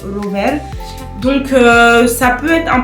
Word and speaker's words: rower: Comme on a par exemple le R en polonais qui est un R plutôt roulé. On a le mot par exemple rower.